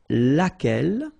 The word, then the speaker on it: laquelle: And then the feminine form, so singular, we saw it laquelle, okay? So basically same rule, Q-U, U is not pronounced here.